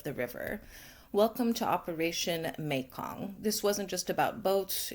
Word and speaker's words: Mekong: Just to be clear, I thought it was pronounced Mikong. It's not. It's pronounced Meong.